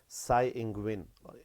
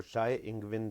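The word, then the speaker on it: Tsai Ing-wen: ताइपे या ताइपी जो है कैपिटल है ताइवान का, और साई इंगविन, और बहुत सारे लोग इसको शाय इंगविन भी प्रोनाउंस करते हैं।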